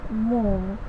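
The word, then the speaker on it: mho: ठीक है, कि कई किताबों में आप इसको इस तरह से लिखा हुआ पाएंगे, इस जैसे ये ओहम, उसकी स्पेलिंग हो गई OHM, तो इसको पढ़ा जाता है मो, इन्वर्स ऑफ ओहम।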